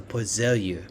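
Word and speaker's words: Poiseuille: SI unit of Pas a pozelia it's a French sort of uh pronunciation of this word and it's kilograms over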